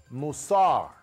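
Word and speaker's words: מוסר: taken from Proverbs chapter 12, verse 1, is pronounced musar.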